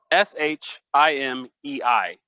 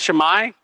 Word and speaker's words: Shimei: Like, how are we going to call him? Okay, we'll go with, you want Shemai? We'll go with Shemai.